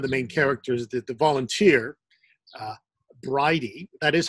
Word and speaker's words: Bridie: The other thing that struck me, the other similarity is the one of the main characters, the volunteer, Bridie. That is how you pronounce her name, right?